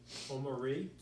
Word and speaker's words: Omari: I was practicing this on the treadmill, and saying to myself, it's 3 syllables. Omari.